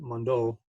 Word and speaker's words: Mondo: And if you look at his screen print that he did for the world-renowned art gallery, Mondo, that's how you say it, Mondo. French.